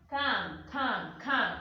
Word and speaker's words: quand: Quand. That's how I'm pronouncing it.